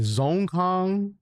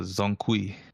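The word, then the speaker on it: Wukong: Zone Kong? No, Zonkui. Zone Kui.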